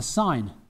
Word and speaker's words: sin: Now we're going to sine this, so we're going to get the sine. Okay, it says sin, but we pronounce it sine.